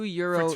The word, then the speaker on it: gyro: two euro euros two euros two years like one euro um what so you know what gyro yeah i guess the proper way to pronounce it is euro yeah so so there